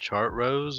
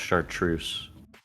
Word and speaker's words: Chartreuse: According to luminary cat, it's pronounced chart rose or something. No, it's I'm pretty sure it's pronounced chartreuse.